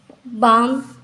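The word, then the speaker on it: balm: वो साइलेंट हो जाता है वहां पर एम बाम काम में L silent sorry एम silent फिर एम के पहले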